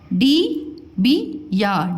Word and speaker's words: डिबिया: डी बी या, डिबिया।